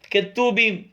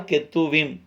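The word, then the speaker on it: כתובים: அவர்கள் பயன்படுத்துகிறார்கள் அதே நேரத்திலே கெத்தூபிம் மீதமுள்ள மீதமுள்ள 11 புத்தகங்களையும் கெத்தூபீம் இல்லை என்று சொன்னால் கெத்தூவிம் என்றும் கூட அதை நாம் உச்சரிக்கலாம் ஆனா தவறு கிடையாது மீதமுள்ள 11 புத்தகங்கள் மீதம்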